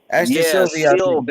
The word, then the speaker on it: Silva: Silva, that's how you say his name.